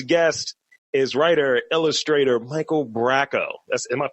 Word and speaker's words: Bracco: and uh today's guest is writer illustrator Michael Bracco that's am I pronouncing that right uh yeah um yeah absolutely Bronco braco people yeah Bronco Rocco's Modern Life no